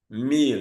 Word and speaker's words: mille: Example is ville. You cannot say ville. Mille. You cannot say mille. Tranquille. You cannot say tranquille. So note those exceptions. Ville, mille, tranquille. Those are not pronounced as ye.